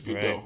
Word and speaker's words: Gadot: It's Gadot. It's not Dot. Okay. The T is silent.